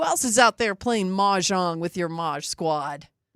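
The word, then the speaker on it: mahjong: People, the person I was talking to invested in like a $500 majong set.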